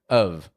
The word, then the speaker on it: of: weak sound uh uh and the F on the ending doesn't actually sound like an F it sounds like a v v v of of pronouncing o f